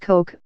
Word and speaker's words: Koch: the soaring ambitions of his older brother david pronounced koch became one of the world's richest people with